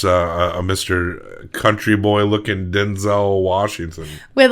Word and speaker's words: Denzel: But we really missed more leading romantic lead Denzel Washington. Yeah. Apparently his first name may be pronounced Denzel. Oh. But we all call him Denzel. I don't think it matters that much.